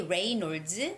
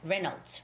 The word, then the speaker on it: Reynolds: name is jimmy reynolds you can say rey nords but reynolds reynolds normally we read it as reynolds okay and weekend weather